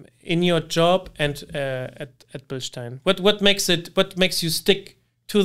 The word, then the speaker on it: Bilstein: So let's hear a German actually pronounce the name BILSTEIN. It's BILSTEIN. Perfect. So it's a BILSTEIN. Yeah, and you kind of on the bill side, you kind of give it a little extra push, right?